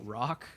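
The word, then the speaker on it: Rocque: would you pronounce it rock that's how they pronounce it in the movie is bubba rock but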